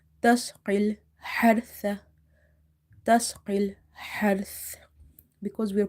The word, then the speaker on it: تسقي الحرث: So in order to pronounce this ha, you have to make your mouth wide open and you have to exhale the air out. Tasqil hartha.